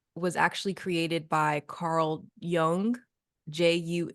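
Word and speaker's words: Jung: actually created by Carl Young juu n g young though I think is how it's pronounced and okay yeah corre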